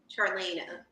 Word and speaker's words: Charlana: Charlana.